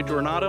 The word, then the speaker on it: Coronado: I mispronounced Coronado. I'm sorry. It's pronounced Coronado, not Coronado.